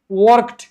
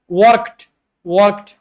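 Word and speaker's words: worked: Pronunciation में इस तरह होता है, लेकिन ये टी जो है इंतहाई सॉफ्ट होती है, इसका अंदाजा भी नहीं लगता लोगों को अगर बहुत गौर से नहीं सुन रहे। वर्कड, आई वॉक्ड इन a market, ठीक है।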